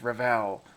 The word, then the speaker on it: Revell: For those of you that are typing in there on the bottom, it's Revell. It's Revell. Rhymes with Bell.